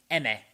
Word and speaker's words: Emme: actually utilizes twice, named Emme. I think that's how you pronounce it, E-M-M-E.